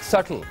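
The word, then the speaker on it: subtle: बदले चलिए एक बहुत ही आसान आपके लिए सटल यार कौन है ये देखो हां इस नहीं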